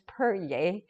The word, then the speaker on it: Peryea: XI has that Xi sound, but it's pronounced, and my last name is Peryea, which is not Latin, it's French-Canadian from my husband's side.